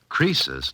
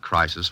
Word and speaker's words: Croesus: Croesus, not Crisis, was a rich king.